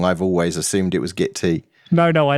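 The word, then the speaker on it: Gitea: of my favorites is git T git T is really easy to set up that's how you pronounce it it's git T as in cup of tea I see I always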